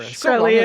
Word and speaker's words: Shkreli: Shkreli, I think.